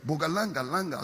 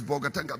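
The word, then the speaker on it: Bolgatanga: Then they'll pretend they can't pronounce bogatanga. They say, "Boganga langa something." I said, "It is bogatanga."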